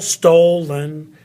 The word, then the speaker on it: stolen: what I'm saying the the very first syllable stolen stolen that has an accent on it bacon oo love bacon